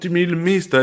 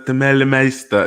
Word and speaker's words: Demeulemeester: I get corrected because I talk about her so much, so all the Belgians are like, "It's not Demeulemeester, it's Demeulemeester."